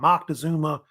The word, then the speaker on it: Moctezuma: They also call it Moctezuma as well. You spell the C, actually, but usually pronounced with a N sound to it.